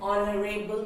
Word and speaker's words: honorable: An honorable person. Then it is not H. H sound is not there.